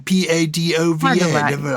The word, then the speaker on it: Padova: in beautiful spelled in Italian p a d o v a understand that yes Padova and we we have anglicized it to padwa no it's just an